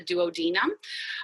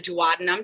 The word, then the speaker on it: duodenum: And it's that first part of your small intestine called the duodenum or the duodenum, depending on how you like to pronounce it.